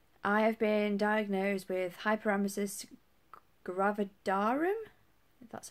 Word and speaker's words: hyperemesis gravidarum: I was pregnant I have been diagnosed with hyperemesis gravidarum that's how you pronounce it I've not been very well at